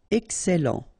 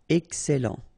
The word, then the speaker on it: excellent: Okay, you've got double L here, and then it will open the sound of your E here, and it will be E. Excellent. Excellent.